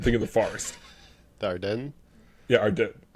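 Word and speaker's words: Ardennes: So Elizabeth Monroe took it upon herself to personally visit uh uh Adrian I keep saying Ardan. I don't know why. I'm think of the forest. The Arden.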